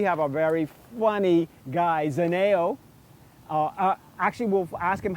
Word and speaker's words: Zhaneo: No, it's Zhaneo. A lot of people is always pronounced it wrong. They say Zhaneo, Zane, this and that, Z, this, Z, that. And I'm like, what? It's Zhaneo. Zhaneo is right there.